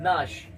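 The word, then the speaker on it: gnash: फिर वही साथ में तो जी को क्या करेंगे जी को नहीं बोलेंगे क्या पढ़ेंगे सिर्फ नाश क्या पढ़ेंगे नाश तो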